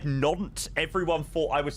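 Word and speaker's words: Nantes: Lemur fox shot Romeo Sierra and then every time I said na everyone thought I was saying naunt like no welcome in mate no it's it's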